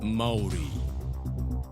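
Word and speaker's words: Māori: It's pronounced Maori.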